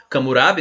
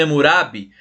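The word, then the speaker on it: Hammurabi: e nascido em Babel hamurabi né na pronúncia babilônico foi fundador do Primeiro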